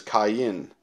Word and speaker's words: Cain: name is Cain and I don't know why we call him Cain because his name in Hebrew is Cen Cen so it's somewhere along the line we really butchered uh his name uh but the kenites